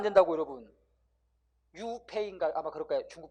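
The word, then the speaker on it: 류이페이: 중국 발음은 장꼬룽. 유역비 이러면 안 된다고, 여러분. 유페이인가 아마 그럴 거예요.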